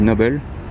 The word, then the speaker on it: Noble: De loin on dirait vraiment une Ferrari P4, mais il s'agit là d'une Noble, ou Noble si vous le prononcez en français, mais sinon on dit Noble, c'est anglais.